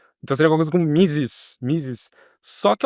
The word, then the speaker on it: Mises: A gente fala misses, em inglês também é misses. Em alemão eles falam misses.